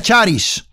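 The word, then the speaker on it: χάρις: la palabra gracia viene del griego que se pronuncia charisse y significa lo siguiente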